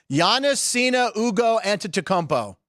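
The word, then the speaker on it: Giannis Antetokounmpo: name he's turning 30 today happy 30th to Yannis Cena Ugo anomo plotting for myself for getting that right turns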